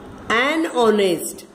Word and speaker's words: honest: An honest. We don't say honest. We say honest. H says H. But here H is silent. So we say an honest.